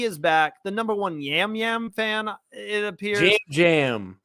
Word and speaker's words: Yam Yam: first off he is back the number one yam yam fan it appears how do you guys not know how to say his name is five episodes in Gambler called him yam yummy entire episode and I was too nervous to